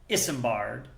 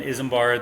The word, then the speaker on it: Isembard: And then Isembard, the most common pronunciation is like Isengard from like Lord of the Rings. They're not affiliated in any way, but I can see where it comes from.